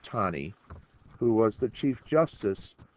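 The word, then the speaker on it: Taney: Uh this is Dread Scott on the left and the man on the right is Roger Tani pronounced Tonnie who was the Chief Justice of the Supreme Court.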